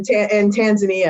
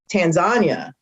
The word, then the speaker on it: Tanzania: went to kenya in tanzania and actually i learned this while i was there that it's actually called tanzania not tanzania not tanzania so it's